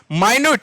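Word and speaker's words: minute: माइन्यूट, इसको मिनट मत पढ़ना, इसको माइन्यूट पढ़ना, माइन्यूट, और इसको माइन्यूट पढ़ो, मिनट पढ़ो, डजंट मैटर, आप इसको याद रखो, इसका मतलब सूक्ष्म होता है।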